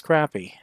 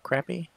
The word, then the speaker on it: crappie: the duns crappie crappie crappy yeah i did do some checking crappie and crappy it really just depends on what part of the states you're from how it's pronounced either one is correct around here we call